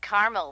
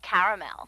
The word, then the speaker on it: caramel: Actually, you said caramel when it's pronounced caramel.